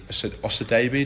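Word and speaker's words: Osadebe: But as you said, the man whose name I'm going to pronounce wrong, Paddy Osadebi, did we say? Yep, that's correct.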